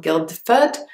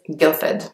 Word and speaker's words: Guildford: London you will hear this place name and a lot it does have a D in the middle but the D is not enough so it's not Gilda food its Guildford the next place is